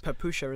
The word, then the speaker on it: Papusza: It's basically Papusza. It's Papusha, isn't Papusha, it? Papusha, yeah.